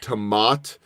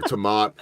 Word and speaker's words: Temaat: It is Temaat, or as you said, Yes. Jennifer always says, like tomato, no Tomato, O at the tomato. end. So just remember Temaat.